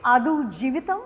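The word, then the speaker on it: Aadujeevitham: Adu Jivitam, am I saying it correctly?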